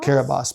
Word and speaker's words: Kiribati: Kiribati, but it's spelled Kirritmati.